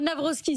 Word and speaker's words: Nawrocki: depuis ce matin, Carole Navrovsky. Si on le dit comme ça, c'est correct. C'est correct.